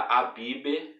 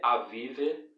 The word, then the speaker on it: Aviv: Na tua Bíblia vai estar Abibe, mas não se pronuncia assim, se pronuncia Avive, o mês de Aviv.